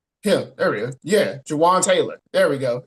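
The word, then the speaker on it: Jawaan Taylor: name right not him there he go yeah Jaan Taylor there we go it's Jawan Taylor get him out of there get him out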